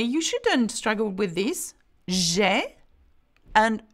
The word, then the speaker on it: j'ai: J'ai and je. Two different things. So here we go. J'ai, a sound, and how do you pronounce je? Je. Okay? Can you see that? So you shouldn't struggle with that. It's quite, you know, quite different sound.